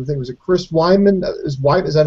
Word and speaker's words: Weidman: Goes into this match, starts playing around, starts fucking around, gets cocky, and I think it was Chris Weidman. Is that how you say his name, Weidman?